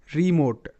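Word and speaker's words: remote: নোট ভোট ভি ও টি ই ভোট ভোট রিমোট আর ই রি এম ও টি ই মোট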